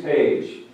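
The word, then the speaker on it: Paige: His name is James Page. And it's spelled different. It's P-A-I-G-E.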